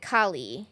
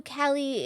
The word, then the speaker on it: Kali: But you pronounce it Kie. Yes. And I think I even said, "Oh, are you Callie?"